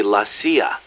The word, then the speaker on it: la CIA: Around here they say La CIA instead of CIA, huh? Nothing strange about it. That's how it's pronounced when you read it in Spanish. It has the feminine noun ending a, so they use the article la.